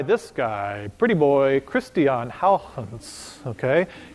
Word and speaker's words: Huygens: were made by this guy pretty boy christian Howland's okay it's not pronounced Huygens is pronounced how hunts is the proper way to say it okay